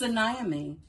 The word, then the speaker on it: Anaemy: pronunciation my name is anami that's a n a na is the accented syllable and pronounced like a